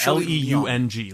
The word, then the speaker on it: Leung: think either of us still know how to pronounce her last name. up cuz I I think Shirley Leung, l e u n g, Leung.